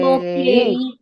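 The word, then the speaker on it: とけい: Okay, individually it is to-ke-i. Yes. But when you say it as a word, how will you pronounce? What is the right pronunciation? Is it toke or toke or toke? What is it? Toke. Okay. Toke. Yes, you'll have to be very, very clear about it. The first sound to is not elongated.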